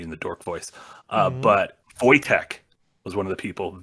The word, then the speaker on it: Wojtek: But Wojtek was one of the people, Wojtek, and I know it's pronounced Wojtek because there's a famous bear during World War II.